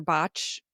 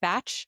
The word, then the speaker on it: Bach: I'm a big fan of Bach or Botch. I've bach Bach B- A. I've heard people pronounce it batch. I've heard people pronounce it Bach, but this is just entry level, like 101, right?